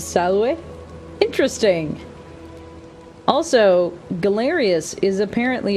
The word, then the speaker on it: salve: There's no V sound in Latin. It would be pronounced salve.